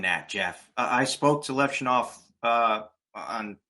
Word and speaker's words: Levshunov: guys like I'm sorry, I always say his name wrong. Levshunov, is that how you say his name? Levshunov.